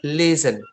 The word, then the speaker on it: listen: Kalian nggak akan menemukan huruf bunyi T di kata listen. Bacanya adalah listen.